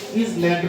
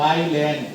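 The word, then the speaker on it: island: আইল্যান্ড এটাও ইজল্যান্ড বলে। ইজল্যান্ড না কিন্তু আইল্যান্ড। আইল্যান্ড মনে রাখবা আইল্যান্ড।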